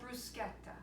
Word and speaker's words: bruschetta: So today we are going to be making an Italian antipasto appetizer called bruschetta, or you could say bruschetta, but it is not pronounced bruschetta. It is mispronounced all the time.